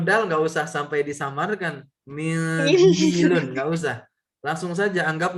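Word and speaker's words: مِنْدِيلٌ: Ya, mindilun. Dalnya panjang, ada ya sukun nyambung sama lam. Mindilun.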